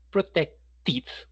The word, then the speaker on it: protected: Protect protected. Porque termina en sonido de tomate.